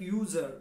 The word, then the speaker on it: user: with a consonant sound a user you sound like user begins with a consonant y sound so is used university